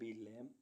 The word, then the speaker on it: lamb: LAMB लैम, लैम means भेड़ का बच्चा।